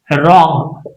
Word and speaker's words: wrong: Wrong. W is silent.